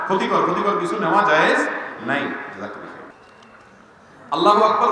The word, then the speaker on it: আল্লাহু আকবার: আল্লাহু আকবার উচ্চারণ করার সময় আকবারের রাকে টেনে পড়া ঠিক হবে কিনা?